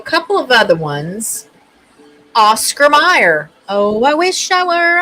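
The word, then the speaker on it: Mayer: So, even though it's pronounced Meyer, it has an A in it.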